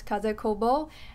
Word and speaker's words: Kaze Kobo: is like her designer name sudo name and pronounced as kaze kobo and her own name the japanese designer her